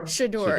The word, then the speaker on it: Shedeur: We're going to be covering Deion Sanders, saying his son, I learned how to pronounce this, and then I forgot. Can you enlighten me? Shedeur.